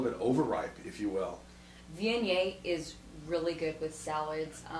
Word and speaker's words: Viognier: A lot of people have a hard time pronouncing Viognier. It's Viognier, and not a lot of production on this wine.